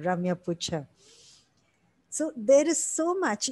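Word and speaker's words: Ramya Putcha: That's how she pronounces. So I'm having to say Ramya Pucha.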